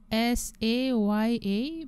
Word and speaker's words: saya: polite or standard form we normally use saya, s-a-y-a, pronounced as saya.